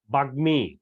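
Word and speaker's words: বাগ্মী: স্বরটা লুপ্ত হয়ে যায় যেমন বাগ্মি এখানে খেয়াল করো গ এর সাথে ম ফলা যুক্ত হয়েছে এখানে নিয়মে বলছে গ ও ট মধ্যে দন্তন্য বা ল এর সাথে যদি ম ফলা যুক্ত থাকে তাহলে যুক্ত বর্ণটির প্রথম বর্ণটি অনুচ্চারিত হবে মানে কি লুপ্ত হবে যেমন দেখো বাগমি তারপরে হচ্ছে মৃণময় জন্ম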